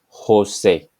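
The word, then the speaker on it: José: La chica the girl the sound corresponding to J or hota in Spanish as used in the names Juan and Jose and there is no equivalent in English but try to practice and you will get this sound Juan Jose so this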